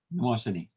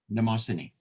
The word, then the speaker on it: Mnemosyne: Mnemosyne. The aim is silent. Mnemosyne.